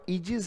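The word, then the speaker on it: ease: continuous pressure क्या वो इजीज है इसको पढ़ा देगा इजी इसमें जो ए है वो साइलेंट रहता है बेटा इसका जो उच्चारण है वो पढ़ा जाएगा इजी क्या वो अनपरता है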